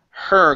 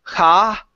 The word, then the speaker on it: her: Okay, so her. Give me an R sound. Instead of ha or here, okay, it's her.